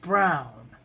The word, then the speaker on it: Bruijn: Bruij, and is pronounced Brown.